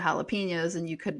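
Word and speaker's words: jalapeños: And then my grandma would always say japalinos instead of jalapenos.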